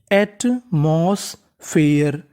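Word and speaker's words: atmosphere: Eighty, eight, इसे क्या पढ़ेंगे eight. MOS, moss, एटमॉस। पीएचई, इसे पढ़ेंगे फे। और ईआर है, ईआर को पढ़ना है अर, और आखिरी में लिखा है ई, हमें ई का उच्चारण आखिरी में करना नहीं होता। तो मीनिंग बनी एटमॉस्फेयर।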